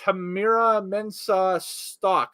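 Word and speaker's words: Tamyra Mensah-Stock: American wrestling gold medalist Tamira Mensah Stock, I believe is the pronunciation for her name, and Gable Steveson are introduced.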